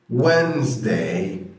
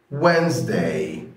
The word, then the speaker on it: Wednesday: Monday Monday، Tuesday Tuesday، Wednesday Wednesday. لاحظ ان انا قلت Wednesday، والدي اللي هنا دي انا ما قطعتهاش وكانت silent، ما بقولش Wednesday، لا بقول Wednesday Wednesday.